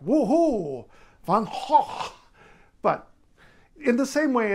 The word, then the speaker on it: Gogh: But if you, an English speaker, are trying to say it correctly according to the Dutch, just say Vincent van Gogh.